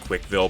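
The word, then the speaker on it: CWCville: I I know it's pronounced Quickville, but Chris clearly doesn't know how phonics works.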